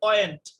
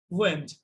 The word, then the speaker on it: went: এবার এটাতে এই উচ্চারণটাতে অনেকে ভুল করে, অনেকে বলে ওয়েন্ট। এটা কি ওয়েন্ট? কি উচ্চারণ হবে? went, went, went, go, went, gone, go, went।